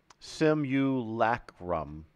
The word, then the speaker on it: simulacrum: would never be able to say this simulacrum sem you lack rum okay that's not too bad oh this is